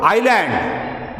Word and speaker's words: island: In the word daughter, DAUGHTR, GH is silent. In the word island, the spelling is ISLAND, here letter I is silent.